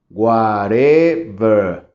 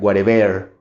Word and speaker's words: whatever: tener tres sílabas Whatever y cuando tenemos dos o tres sílabas de esas la base es la que debe de sonar más fuerte No si marcamos la final sería si dijera Whatever si marcamos la de medio es Whatever Y si marcara la